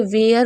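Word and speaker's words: where: ठीक है, जैसे वेयर हो गया, तो हम डब्ल्यू को वा पढ़े और ई आर ई को एयर पढ़ रहे हैं।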